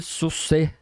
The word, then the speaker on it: Saussure: Mas eu diria o seguinte, você tem um tal de Ferdinand de Saussure, que é a pronúncia, escreve Saussure. Até a pronúncia do cara é complicada, por isso você não encontra muita referência.